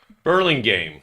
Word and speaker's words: Burlingame: Burlingame.